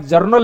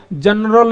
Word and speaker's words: journal: बार हो सकता है कि आप जर्नल एंट्री की जगह किसी के सामने बोल दें जनरल एंट्री, तो कहेगा कि आप गलत बोल रहे हैं।